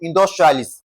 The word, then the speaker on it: industrialist: Now, the rule is also stating that whenever we have to stress a word that ends with I S T, we are going to lay emphasis on the first syllable, okay? Lay emphasis on the first syllable. That is the intonation pattern will be the highest on the what now? On the first syllable, in dustrialist. That's how it is being pronounced.